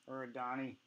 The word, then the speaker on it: Arrigoni: Arrigoni. I'm pronouncing it correctly.